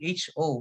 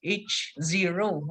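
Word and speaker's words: H₀: null hypothesis however each it's more of h zero and then zero yeah okay but of course we could always uh pronounce it as oh problem however the alternative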